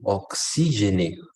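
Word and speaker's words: oxygène: No, la pronunciación es la misma. Solo- Ox, Y, Jenner, Oxy, Jenner. No, oxígene, oxígene.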